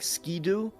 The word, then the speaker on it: Skiddo: It's written Skiddo, But it's pronounced. and it makes sense. Yeah. And it's pronounced Skidoo for like because of like a. It's 1, 2, 3 skidoo, or 1, 2 skidoo, or whatever it is, which is